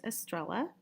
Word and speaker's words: Estrella: Here is a little bit of information about me, Dr. Estrella. It rhymes with umbrella.